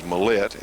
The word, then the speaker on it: Millett: the milette sight coming a lot of people know him as Millett but the proper pronunciation is mahlet and we're standing here with none none other than Tom mahlet now Tom you're actually